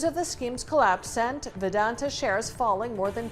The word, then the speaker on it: Vedanta: News of the scheme's collapse sent Vedanta. Anyway, I pronounced the name improperly. Please. Vedanta.